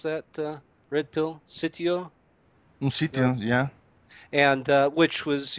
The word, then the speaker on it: sitio: How do you pronounce that, Red Pill? Sitio? Un sitio, yeah.